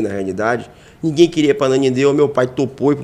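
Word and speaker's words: Ananindeua: Muita gente tem essa dificuldade de pronunciar a Nanindeua, né? Fala ananindua a Nunindua. Mas é ananindua e é difícil de pronunciar para quem não conhece, realmente.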